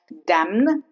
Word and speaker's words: damn: Not damn. Damn. Condemn. Not condemned. Condemn.